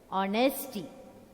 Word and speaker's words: honesty: So honesty. Honesty. First one, honest. Honesty. Don't say honesty. H is silent.